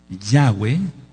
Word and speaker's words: Yahweh: Alguien que no tiene el pacto de la circuncisión, Yahweh, que así se pronuncia, por lo que ya expliqué, no puede ser su Elohim.